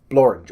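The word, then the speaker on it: Blorenge: contrary to popular belief, there are words that rhyme with orange. One, and they're English words. One's English. The first is actually a mountain in Wales called Blorange, or the Blorange. And you could look it up. It's a real thing. It's spelled similarly. And so that rhymes with it.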